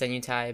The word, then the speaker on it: Senuti: very one pronounce it i pronounce tent senuti senuti but um you know maybe passing along after all right I've heard some people pronounce its nu ty but anyways basically I